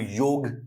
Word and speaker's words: योग: याद रखिए, आप समझ रहे होंगे, सोच रहे होंगे, आप लोग इसको प्रोनाउंस करते हैं योगा। हाउएवर इसकी एग्जैक्ट प्रोनाउंसिएशन जो होती है वो योग होती है, राइट?